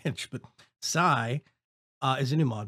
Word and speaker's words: Psi: want to show you it's called sigh at least that's how I think think it's pronounced I want if it was capitalized I'd say PSI pounds per square inch but Sai uh is a new